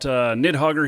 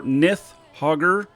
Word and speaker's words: Nidhoggur: And so I've got Nidhoggur here, or Nidhoggur, as I've been corrected in saying, even though it doesn't have a TH in it. The D is pronounced TH, apparently.